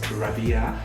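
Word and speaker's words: Rabiya: is rabia radha sorry i always always always pronounce the name wrong and which is i just get enough of it because it's not right i know it's rabia but i've got that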